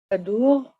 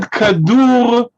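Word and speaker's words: כדור: Okay, with a kaf, daled, vav, resh, kadur.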